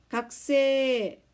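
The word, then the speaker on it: 学生: 그런데 쌤 지금 어떻게 발음했죠? 가쿠세라고 하지 않고 각세라고 했습니다. 각세. 요런 거를 일본어에서는 모음의 무성화라고 합니다. 몰라도 됩니다. 이렇게 카행 다음에 사행이 연속적으로 오면 쿠라는 쿠에 들어가는 우 발음이 거의 소리가 울리지 않습니다.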